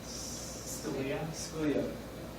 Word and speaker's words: Scalia: Scalia.